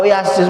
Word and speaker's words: Yasin: Dan kitab suci kita itu, Pak, tidak bisa diterjemahkan pakai bahasa lain selain bahasa Al-Quran, selain dengan bahasa Arab kita membacanya. Ya. Kalau Yasin seperti baca Yasin, Pak, Yasin panjang.